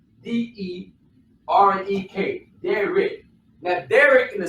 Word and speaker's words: derek: That word is Derek. Derek. D-E-R-E-K.